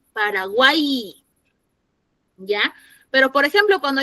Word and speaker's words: Paraguay: Paraguay suena como I, Paraguay.